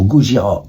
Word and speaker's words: Gojira: change de nom en Gojira qui est la prononciation de Godzilla en japonais en 2001